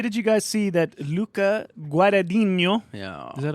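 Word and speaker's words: Luca Guadagnino: yeah um hey did you guys see that Luca guadino yeah is that how repr pronounce his name yeah it is Luca guo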